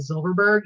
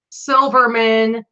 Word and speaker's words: Silverberg: a hard time with Silverberg even though it's pronounced exactly how it's spelled exactly how it looks I get Silverberg Silverman zilbert Silverman hey there's